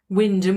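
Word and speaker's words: Wymondham: Okay, is if you just look at things like Haysborough, actually spelt Happisburgh, Wyndham would be Wymundham. They are, in my mind. And isn't there a pronunciation of Stratton Strawless that's completely different to how it's spelled?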